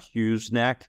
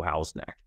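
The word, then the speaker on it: Houghs Neck: neck right here and that's how's neck not Hugh neck it is pronounced wrongfully so house neck so again what makes house neck so great like so much of Quincy you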